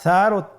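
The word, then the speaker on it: ثاء: ছিল 2টি নোক্তা, আর সারও 3টি নোক্তা রয়েছে, সেটা হলো তার উপরে। তাহলে 3 নোক্তাওয়ালা হরফটিকে কি বলে? সা। আবার বলুন সা। সা হরফটি বারিক মানে পাতলা করে উচ্চারণ করতে হবে।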